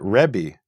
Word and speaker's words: rebbi: So if you listen to Jews today, most of them will pronounce it Rebbe with an eh.